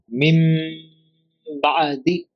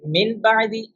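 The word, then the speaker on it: مِن بَعْدِ: Mim Ba'di. Normally we should read min ba'di, but due to iqlab, due to ba after noon sakin, we will change the noon sakin to meem sound, and then we will do ikhfa.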